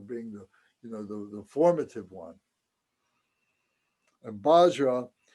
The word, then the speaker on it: Vajra: And Bajra, it's pronounced here. It's spelled out Bajra because the Tibetans don't say Vajra very well. They make it Bajra, so that's why you might see it written that way.